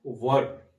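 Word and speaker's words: were: तो वर, first of ऑल वर, इसका उच्चारण वर, वेयर नहीं वर होता है, तो वर, और फिर वाज या वर के बाद सब्जेक्ट का प्रयोग करेंगे।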